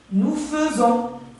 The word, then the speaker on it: faisons: Nous faisons. Hein? Nous faisons. C'est faisons, AI, mais ça se prononce E.